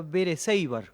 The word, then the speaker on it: Berecíbar: Sé que era Berecíbar, como se pronunciaba originalmente, eso sí lo sabía.